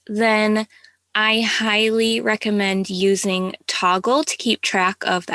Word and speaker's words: Toggl: If you're working hourly for your clients, then I highly recommend using Toggle to keep track of the hours that you're working. This is spelled Toggl, and it's just basically a stopwatch,